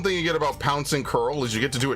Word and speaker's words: Curl: See, that's the one thing you get about Pouncing Curl is you get to do it twice per demolish, which is awesome. Peak. And yes, I know it's pronounced curl. It's not co-arl.